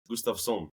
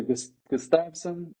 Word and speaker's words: Gustavsson: Gustavsson. Gustavsson. Okay. Yeah, that's good. That's better. But you can say Gustavsson or Gustavsson. Or Gustavsson. I'm going to try it, yeah. That's a Swedish pronunciation.